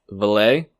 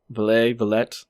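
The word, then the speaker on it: Vliet: I believe it's pronounced Valet. V-L-I-E-T. Valet. Valid. Nope. That's how I would say it.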